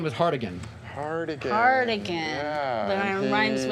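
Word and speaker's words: Hartigan: His character's name was Hardigan. Cardigan. Cardigan. Yeah. But and it rhymes with he- cardigan.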